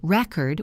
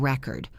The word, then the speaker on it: record: It is a thing, like a vinyl record or a database entry. But if I say record with the stress on the second part, it is a verb.